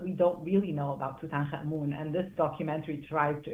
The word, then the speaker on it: Tutankhamun: I pronounce it Tutankhamun.